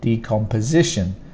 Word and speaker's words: decomposition: end that's difficult and for the stress you put the stronger sound on this part the s i here decomposition decomposition that's the stronger